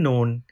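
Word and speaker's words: نون: character is new visited after me please remember known has one dot remember known has one dot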